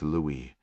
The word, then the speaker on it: Louis: Maltese called Cookie and a Papillon named Louis. His name acquired homage to the Dustin Hoffman character and pronounced in the French style.